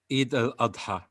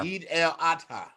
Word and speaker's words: Eid al-Adha: Eid al-Adha. Eid el-Hatta. Adha, like an advert, and then Adha. Yeah. Eid el-Adha.